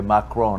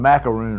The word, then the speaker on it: Macron: I say Macron. I was calling him macaroon last week.